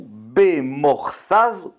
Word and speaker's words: במוכסז: on va voir, ça veut dire qu'on va prononcer ça Chozu, Bemorsaz, Chozu.